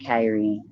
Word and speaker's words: Kyrie: name is kyrie kyrie it smelled like that spell like kiri but i choose to pronounce it kairi that's right bp yeah